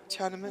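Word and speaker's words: Tiananmen: the biggest uh am I saying it right chanan yeah tanan Square okay tanan okay uh the biggest Square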